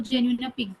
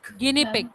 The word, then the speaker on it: guinea pig: और एक मैम क्या बोलते हैं इसको, genuine pig. Guinea pig. That is pronounced like guinea pig.